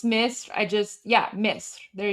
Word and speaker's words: Misr: of course, like for us Persians, we just pronounce it the same way. So, for example, Egypt is Misr, Misr.